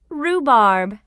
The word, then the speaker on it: rhubarb: Rhubarb.